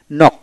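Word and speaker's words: knock: তারপরে নক, এন ও সি কে নক, এখানে কে উচ্চারিত হবে না, এন ডাবলি নি, কে উচ্চারিত হবে না, নি উচ্চারিত হবে।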